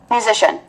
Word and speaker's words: musician: Cái vần sần ở đây là vần mạnh luôn. Âm sờ ở đây là âm mạnh luôn. Musician, và nhấn ngay cái vần ý nào.